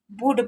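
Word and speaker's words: would: इट वुड, तो वुड का meaning क्या होता है, देखिए यहाँ पर देखिए वुड नहीं पढ़ेंगे, एल साइलेंट है, इसको क्या पढ़ेंगे, वुड पढ़ेंगे।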